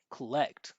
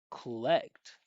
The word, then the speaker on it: collect: So, what I'm doing is I'm bringing the energy of my voice up, starting this vibration, and just pushing through, keeping the my my voice in the body. Collect. Collect like that.